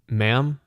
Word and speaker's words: ma'am: it is simply pronounced ma'am and you can pretend that it's spelled m a m because that is how it's pronounced it's pronounced m a